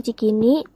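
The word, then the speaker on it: Tjikini: Lalu huruf TJ digunakan untuk bunyi C, seperti kata yang ada di contoh, itu dibacanya cikini.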